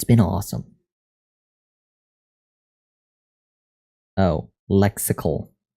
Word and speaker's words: lexical: Oh, lexical. Like popsicle. But with a lex.